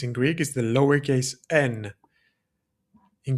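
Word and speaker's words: νι: And like I said before, this in Greek is the lowerase N. In Greek, we pronounce that ni.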